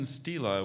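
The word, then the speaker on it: stela: use it in a sentence yes the Mayan Stila was intricately carved and stood next to the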